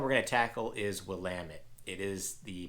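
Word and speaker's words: Willamette: the first one we're going to tackle is wamit it is the pronunciation is popping up on the screen so if you see wamit River wamit Valley uh that's how you pronounce pronounce it it's not willamont it's not willit uh I don't know there's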